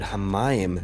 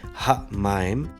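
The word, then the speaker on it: המים: Another example, Genesis 1 verse 2, we have the word Hamayim, the waters. So instead of saying Ha-Mayim, we would say Hamayim, Hamayim. Here there's almost 2 M's occurring.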